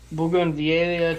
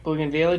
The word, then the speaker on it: bougainvillea: By native yeast, we mean that we isolated it from a bougainvillea tree. Bougainvillea tree. Bougainvillea. Bougainvillea. I know I've seen it. I'm pronouncing how my mother pronounced it when I was a kid.